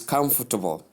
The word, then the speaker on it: comfortable: The word has its stress on the first syllable. Look at you have com. Come. Come. You call it you pronounce it as come. The word come. So comfortable. Comfortable. Then the stress uh the second syllable is not stressed and it's softened. It's suppressed a bit.